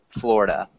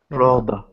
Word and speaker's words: Florida: Florida Florida not quite so it's just fla it's kind of silly but that's how we pronounce it Florida Florida yeah Florida Florida perfect